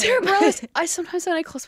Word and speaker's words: Bareilles: But how do you pronounce Sarah? Bareilles. It's Bareilles.